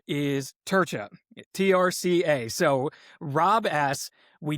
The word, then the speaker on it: Trca: his name is Rob, and the way you pronounce this last name is Turca, Trca.